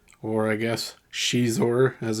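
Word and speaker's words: Xizor: vile leader of black Sun the fine Prince zizor or I guess Shor as it's supposed to be pronounced but I prefer zizor so that's how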